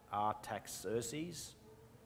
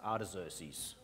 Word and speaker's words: Artaxerxes: Nathan's lesson last week, he pronounced that Artaxerxes, but I have heard it pronounced Artaxerxes.